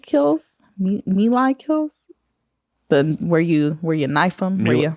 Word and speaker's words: melee: But I get a lot of Milu kills, Melee kills. Where you knife them. Melee? I always pronounce it wrong.